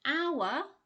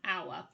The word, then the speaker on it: hour: say something like an hour because although it's written with an h the h is silent hour begins with a vowel sound hence an hour so it's all about